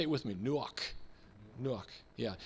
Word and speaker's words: Nuach: next to you because you're almost spitting out that k sound at the end you know almost like clearing the throat but here is this